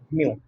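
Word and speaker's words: μ: इसको बोलते हैं म्यू। क्या बोलते हैं? म्यू। ठीक है? म्यू पढ़ोगे इस टाइप। इसका प्रोनाउंसिएशन जो होगा म्यू होगा। इस पर्टिकुलर पार्ट को इस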